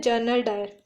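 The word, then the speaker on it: Dyer: police सीगे पंजाब दे जनरल डायर दोन का जो नाम है वो डायर डायरी प्रोनाउंस हो है लेकिन स्पेलिंग अलग है जो लेफ्टनंट गन लेफ्टनंट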